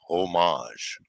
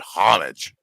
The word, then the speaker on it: homage: with the Resla, but it's pronounced it's pronounced homage, not homage. Oh, is that what it is? Homage. Yeah. Homage. And it's that soft J sound. J, not J.